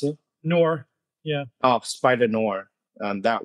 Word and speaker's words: Noir: Is that how you pronounce it? Noir, yeah.